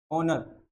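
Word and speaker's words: honour: रहा है यहाँ से, ऑनर, ऑनर, ऑनर लिखा जाता है, ऑनर, एच साइलेंट होता है।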